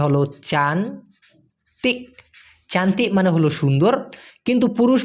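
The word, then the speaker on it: cantik: আমরা অনেকেই জানি সি এন টি আই কে উচ্চারণটা হলো চান চান্তি মানে হলো সুন্দর কিন্তু পুরুষ মানুষকে যদি আপনি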